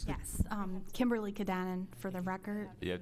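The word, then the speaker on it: Cudanin: It's Kadanen. It's spelled C-U-D as in David, A-N-I-N.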